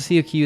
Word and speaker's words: Coq: Also, COQ is pronounced coq since it's French.